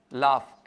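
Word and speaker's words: laugh: एच भी फ का साउंड देता है टफ लाफ एल ए यू जी एच तो बताओ कौन-कौन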